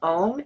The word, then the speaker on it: Om: We're going to pronounce Om, A-U-M, Om.